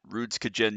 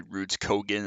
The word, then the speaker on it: Rudskogen: for Global challenge at ruds kajin yes I understand that's probably ruds kogan I've been saying it wrong for the past two years or whatever but I don't care it's ruds kajin anyways we are here